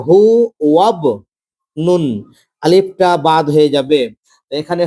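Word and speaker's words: هو ابن: তো এখানে হু ওয়াব নুন, আলিফটা বাদ হয়ে যাবে, এখানে হয়ে গেল হু, হু আবনুন।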